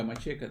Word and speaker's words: Macheka: Am I saying it right? Yeah, Macheka, that's correct, yeah.